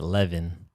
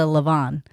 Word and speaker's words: levain: I was pronouncing it leaven. Leaven? Or it's spelled like levain. Oh, okay. I would have pronounced it as a levain, but who knows? He pronounced it as a levain.